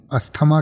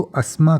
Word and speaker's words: asthma: मैं आपको बता दूं इसका प्रोनाउंसिएशन जो है वो अस्थमा तो बिल्कुल नहीं होता है। इसके दो प्रोनाउंसिएशन होते हैं। जो ब्रिटिश इंग्लिश है उसमें इसको अस्मा कहा जाता है, स की आवाज़ आती है, और जो अमेरिकन इंग्लिश